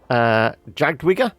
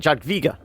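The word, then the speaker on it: Jadwiga: And our characters, so we got Jagdwiga. I guess the W is pronounced as a V, isn't it? Jagdwiga.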